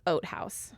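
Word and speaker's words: Oat Haus: will be purchasing from immediately and it is oat house okay h-a-u-s is house and so it is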